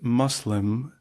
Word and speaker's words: Muslim: I have used the word Muslim, M-O-S-L-E-M, in preference to Muslim, M-U-S-L-I-M, as most Europeans unacquainted with Arabic pronounce the U in Muslim as in public.